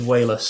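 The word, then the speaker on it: Walas: I was I was listening to a um a Jeff Goldlum interview and he pronounces it as wayless. So, we'll we'll go with that.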